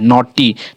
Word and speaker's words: naughty: जैसे यहाँ पढ़िए NAUGHTY, नॉटी। देखिए GH हमारा नहीं पढ़ा, लग रहा है कि T पढ़ा रहा है, और लेकिन T हमारा पढ़ाता है, लेकिन GH हमारे यहाँ साइलेंट होता है।